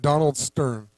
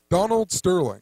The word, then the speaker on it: Donald Sterling: So let's look back at Donald Stern or Donald Sterling. I keep saying it wrong, but Donald Sterling. So it's all about Freddie Gray, right? Silver and gray, but Donald Sterling, Sterling like silver.